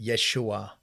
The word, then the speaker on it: Yeshua: because it's all within you know as Jesus said Yeshua um you know the proper pronunciation Yeshua said the kingdom